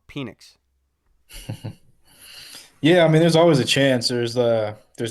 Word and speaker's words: Penix: My bad, I said his name wrong. Penix.